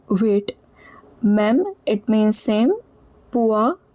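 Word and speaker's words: poids: Me it means same pua. Remember ds is silent. Oi is pronounced as ua.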